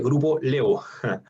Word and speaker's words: Grupo Laevo: Se escribe Grupo La Evo, se dice Grupo Levo.